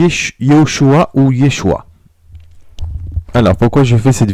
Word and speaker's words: Yeshua: liée au choix ou yeshua alors pourquoi je fais cette vidéo c'est afin de rétablir la vérité je vois beaucoup de personnes qu'ils acquise appelle jésus lyon choix alors que c'est yeshua alors quelle est la